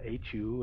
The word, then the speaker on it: hu: uh the Mantra who hu it's it's pronounced with a as though you were whistling the sound there will be a buzzing sound coming out of the lips uh you have to